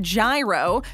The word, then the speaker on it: gyro: National Gyro Day. My hero! Okay, so we know some people pronounce it gyro, but for this video, we're going with gyro.